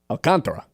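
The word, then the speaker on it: Alcantara: Um, anyway, San Al alcantra, that's how you say it.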